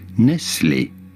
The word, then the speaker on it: Nestlé: Since the name originates from the French part of Switzerland, this is a French pronunciation. Nestlé is I And was like, I hate- do say that a lot.